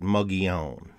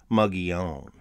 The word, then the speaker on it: Mogollon: it a debate but it's really not everybody pronounces it muggy own you can hear the country twang in it muggy own but the name of the culture was coined